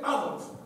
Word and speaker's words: Adolf: va a llamar Adolf, acabado en F, con acento en la A, llana y claramente Adolf.